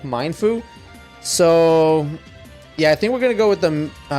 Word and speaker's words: Mienfoo: active and fierce like Mindfu. So yeah, I think we're gonna go with the I think it's Mienfoo actually how you pronounce this.